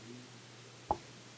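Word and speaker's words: ν: So it's spelled that way, it's pronounced nu, w, but looks like a sort of script v.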